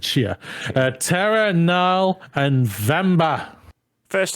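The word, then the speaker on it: Tchia: So, games of impact: A Space for the Unbound, Chance of Sanana, Goodbye Volcano High, Chia. Yeah, T is silent in it. Chia.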